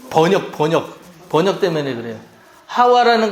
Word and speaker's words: 하와: 하와라는 거, 이 하와는 히브리식 발음이에요.